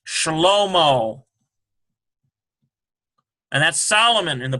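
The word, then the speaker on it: שלמה: Here is Sheen, Sh, and a Shabbat, Sh. Here's a Lamed. Here's a Holem, Shahlo. Here's a Mem, O, ends with a H, Shlomo.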